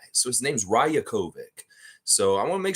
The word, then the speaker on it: Rajakovic: why it's called him rajakovic but it's a of course Serbian name so the J is always pronounced with a Y so his name's rayokovic so I want to